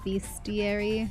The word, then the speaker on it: bestiary: I pronounce it as bestiary. Okay. Beastiary is fine. The word is weird. Okay. I mean, it it makes more sense, but every time I see it written, I I want to pronounce it best, but then I'm like, that's not how that should sound, though.